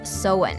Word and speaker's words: Samhain: But let’s start with a 2,000 year-old Celtic festival called Samhain (pronounced SOW-ehn) This pagan holiday marked the end of the harvest season and the beginning of winter.